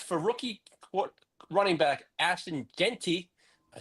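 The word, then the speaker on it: Jeanty: And as for rookie running back Ashton Genty, I said it right.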